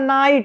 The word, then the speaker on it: night: ये होता है रूल कि कभी भी किसी भी वर्ड में अगर लास्ट में GHT आता है तो उसमें GH क्या रहते हैं, साइलेंट, दोनों साइलेंट रहेंगे, जी और एच दोनों क्या रहेंगे, साइलेंट।